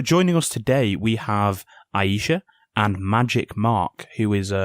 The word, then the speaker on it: Aisha: yeah, it's Aisha, like A and Shah, Aisha. rather than I.